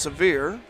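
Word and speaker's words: Sevier: Last name is spelled S E V I E R but pronounces severe.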